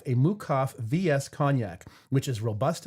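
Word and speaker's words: Meukow: And the specific suggested uh pairing is a it's it's spelled mukau, but it's pronounced mukov. A Mukaf VS Kgnac, which is robust and fruity with delicate woody nuances.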